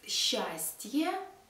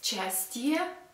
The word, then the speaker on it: счастье: Happiness, счастье. We spell счастье, and we pronounce счастье.